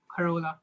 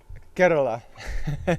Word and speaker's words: Kerala: This is like in Kerala, What's Karola? the It's city. Kerala. Get, excuse me, Kerala. Yeah, you gotta pronounce the states right, okay?